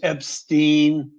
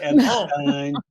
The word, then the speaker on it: Epstein: It's Epstein, not Epstein.